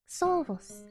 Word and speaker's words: Xovos: It's more like Xovos. Ah, Xovos. But I know it's not intuitive in English. It makes more sense with German pronunciation.